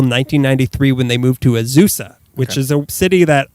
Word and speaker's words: Azusa: It's Azusa. You got it. It's not hard. Azusa. John Philip Sousa.